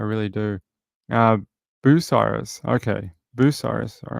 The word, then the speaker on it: Bucyrus: Bucyrus. All right. That's how we pronounce it.